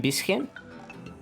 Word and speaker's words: bisschen: CH is never hard like a K.